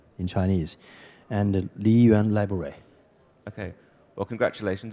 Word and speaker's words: Liyuan: So did I get it even remotely right, the pronunciation? Yeah, Xiadong, that's the name in Chinese, and Liyuan Library.